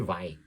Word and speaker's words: Vai: O guitarrista famoso lá dos Estados Unidos, o nome certo dele é Steve Vai, porque é o nome italiano, mas muitos falam veio para aproximar aí da pronúncia inglês, né?